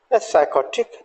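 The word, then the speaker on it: psychotic: आप यहाँ भी देखेंगे कि ये जो पी लेटर्स हैं इनको भी हमने यहाँ साइलेंट रखा है, राइट। तो साइकोथेरेपी, साइकोटिक एंड साइकेट्रिस्ट।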